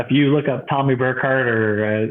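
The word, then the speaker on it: Burkhardt: you look up Tommy burkart or it's spelled b Ur k h a r DT um and the D is silent like d Jango it's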